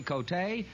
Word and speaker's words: Valerie Cote: Valerie Cote, is that the way you That's pronounce right.